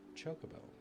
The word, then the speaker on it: Chocobo: Like, when I saw Chocobo for the first time, I thought it was pronounced not Chocobo, but pronounced Chocobo. But that took years until I heard it out loud for the first time, and I said, oh, it's Chocobo, not Chocobo.